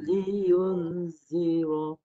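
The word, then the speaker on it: لينذر: Cara bacanya li yu, lepas yu baru dengung. Tanda mati telah disembunyikan. Dengungkan terus ke hidung.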